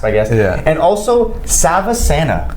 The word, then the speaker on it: Savasana: God Shiva sand okay Indians in their culture they don't pronounce the A's at the end so all in Western culture roots ish of asana but I its shavasan but space they just